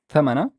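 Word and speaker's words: ثمن: The th has a fatha, and the m has a fatha. The noon has a sukoon, and I would pronounce it as thaman, thaman, thaman, thaman, thaman.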